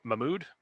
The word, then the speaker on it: Mahmoud: wait how do you say that is that mahmood yeah i was just wondering hey mahmoud okay okay um if he's in the dictionary